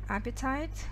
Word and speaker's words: appetite: Аппетит, не аппетит, appetite, потом your mouth waters, здесь означает слюнявиться, да?